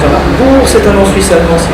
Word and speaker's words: Vonarburg: Je m'appelle Elisabeth Wallarbourg, ça s'écrit Wallarburg et ça se prononce Wallarbourg, c'est un nom suisse-allemand si vous le demandez.